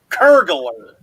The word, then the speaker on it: pergola: I say it right pergola pergola like burglar but with curd yeah exactly what what